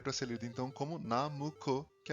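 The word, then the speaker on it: ナムコ: Da mesma forma, 765 daria para ser lido então como Namuco, que é a pronúncia japonesa de Nanco.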